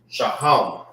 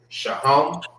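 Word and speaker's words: שֹׁהַם: Onyx is how you say onyx in the Hebrew. Sha. Shahham. All right. That's how you say onyx in Hebrew.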